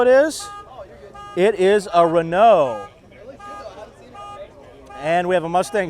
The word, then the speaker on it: Renault: scoots around man and it's not Renault it's Renault when I was a kid I would mispronounce it but not as a grown-up now if I'm grown-up